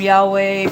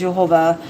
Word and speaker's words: Yehovah: People call him Yahweh. People call him Yahuwah. People call him Yehovah. I pronounce it as Yehovah.